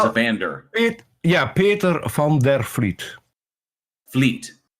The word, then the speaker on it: Vliet: Fleet. So that V is like an F? Yes, a soft F.